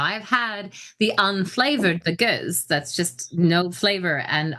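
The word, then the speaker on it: gueuze: Now I've had the unflavored, the goose, that's just no flavor, and I have to say honestly, it's disgusting to me.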